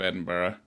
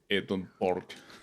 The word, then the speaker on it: Edinburgh: as his uh as his pronunciation of Edinburgh how did he do it Eden Park Eden Park at the